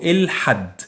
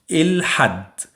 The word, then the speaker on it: الحد: Okay, so الحد, and you pronounce the lam. So say it with me. الحد.